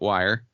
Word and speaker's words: Wir: and they put out one record as wire without the e just wiir but they still pronounced it wire and then he came